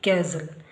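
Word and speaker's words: castle: ಎಲ್ಇ ರೆಸಲ್ ಹಾಗೆಸಿಎಸ್ಟಿ ಎಲ್ಇ ಕ್ಯಾಸಲ್ ಎಲ್ಲದರಲ್ಲೂ ಕೂಡ ಎಸ್ಟಿ ಎಲ್ಲಿ ಕೊನೆಯಲ್ಲಿ ಬಂದಿರುವಾಗ ಟಿ ಸೈಲೆಂಟ್ ಅಂದ್ರೆಟಿ ನ ಉಚ್ಚಾರ ಆಗೋದಿಲ್ಲ ಮೂರನೇ ರೂಲ್ಅಲ್ಲಿ ಪದದ ಕೊನೆಯಲ್ಲಿ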